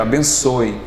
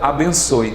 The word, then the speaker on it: abençoe: Veja, abençoe. Esse som final a gente pronuncia como um som de um I. E aí é que gera a dúvida. Abençoe.